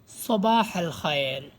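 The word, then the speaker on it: صباح الخير: মনোযোগ দিয়ে দেখুন প্রথমেই সবাল খায়ের সবাল খায়ের শুভ সকাল সবাল খায়ের শুভ সকাল এখানে সিন বলবেন না সদ এটা হবে সদ সবা এটা হাবে হবে না সবাই সবা খায়ের শুভ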